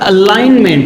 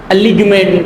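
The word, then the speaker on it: alignment: agriculture देर four है अब यहां पर अलाइन मेंट है अलाइन मेंट अलीग मेंट ये नहीं है अलीग मेंट नहीं है अलाइन मेंट ठीक है यहां पर ये जी जो है वो साइलेंट है ए एल आई जी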